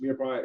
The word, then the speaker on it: mirepoix: So I fabricate my chicken, I put my chicken in, I put my mirepoix, which mirepoix is spelled M-I-R-E-P-O-I-X, mirepoix, and it's a combination of onions, celery, and carrots.